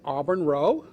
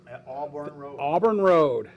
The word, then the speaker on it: Auburn Row: on tonight a band we have a band auburn row auburn road road row row row row row yeah he